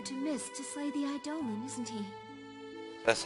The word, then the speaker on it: Eidolon: The king is sending you to Mist to slay the Eidolon, isn't he?